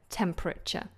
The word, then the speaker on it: temperature: have a look so temperature now bear in mind how I'm pronouncing this the middle is more like an a sound temperature temperature temperature okay